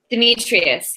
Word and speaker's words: Demetrios: Is it Demetrios? Demetrius, yeah. Demetrius. Okay.